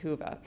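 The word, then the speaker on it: Whova: W and it looks like wove abut it's pronounced huva and on this app you can find our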